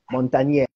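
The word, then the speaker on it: Montagnier: n t a g n i e r Montagne yeah it's French did some beautiful things on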